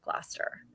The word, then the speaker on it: Gloucester: Glaster Green Woman, you are in Oregon.